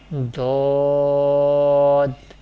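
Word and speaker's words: ض: The third Musta'liyah letter is Dad. Dad. This letter pronounced from the sides of the tongue and the roots of the upper molars.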